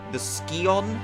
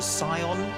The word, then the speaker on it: Scion: This little doodad in the background there is called the Scion, the Scion. They kind of change the way they pronounce it sometimes, and it looks cursed to me when it's not when they're not pentagons.